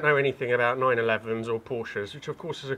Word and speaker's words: Porsche: in german we say porsche so there's like this short a sound in the end so it is porsche it's not porsha so in german e